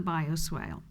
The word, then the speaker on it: bioswale: Okay, that's the bioswale.